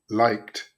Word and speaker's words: liked: If you try to pronounce the K too strongly, you're going to get a like it, but the K is quite soft. This pronunciation is very, very similar to light. And if you get light, it's possible that you're actually pronouncing the liked correctly.